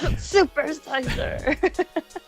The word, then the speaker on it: SuperSeizer: SuperSeizer. Whenever I meet someone new or in a stream or something, when they say that, I'm like, oh, it's pronounced that ruler that got stabbed 28 times, Julius Caesar.